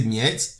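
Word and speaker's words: Mieses: trois souvent appelé ouverture mise qui tire son nom du grand maître d'échec allemand Jacques Nice il a été joué par Nice qu'on peut prononcer miette et d'autres joueurs de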